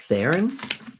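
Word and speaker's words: Strathairn: first of all i can't believe that you mispronounced king david stratharin's name i can't believe you did that teemo it's just theron yeah it's just there interesting yeah can i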